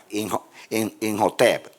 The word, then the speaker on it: Imhotep: en Egipto como Amenhotep, van a ver que la H es como la J, ¿no? Imhotep.